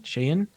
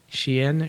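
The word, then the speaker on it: Shein: pronunciation of your Shayan shayin looks like shine um but I'm told it's pronounced Sheen Sheehan um was until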